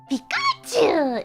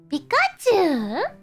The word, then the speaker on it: Pikachu: Pikachu. Pikachu. Pika pika. Pika. Pikachu. So, Pikachu is actually I'm so sorry, guys, but Pikachu actually has long U.